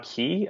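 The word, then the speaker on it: Keay: his style of um as John Key I think that's how you pronounce it ke a y um and so in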